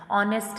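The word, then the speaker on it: honest: जैसे कि नाइफ है, अब इसमें क आपका साइलेंट है, ऑनेस्ट है तो इसमें ह आपका साइलेंट है।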